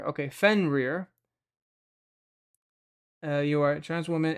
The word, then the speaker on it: Fenrir: Is Fenrir, that's pronounced as Fenrir. Okay, Fenrir.